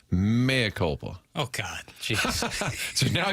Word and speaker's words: mea culpa: Jackson for saying Maya culpa. Nice Latin, bitch. That was a harsh version. Gosh. And then Manupol Eligible said it is pronounced mea culpa.